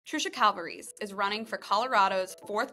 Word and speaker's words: Calvarese: but first things first if you're GNA say my name right you got to use your hands because it's Italian so you have to calvaries because folks always ask me how you pronounce it you stay with your hand so amazing okay future